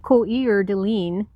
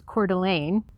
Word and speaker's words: Coeur d'Alene: is pu olip fond oreo which is pandarei coeur de lin which is coeur d'alene or as my gps says the dallas which